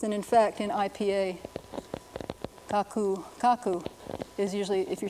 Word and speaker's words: kaku: Grandmother is written in their orthography like this, and in fact, in IPA, kaku, kaku is usually, if you're talking about my grandmother does such and such, it would be kaku, K-A-K-U, kaku.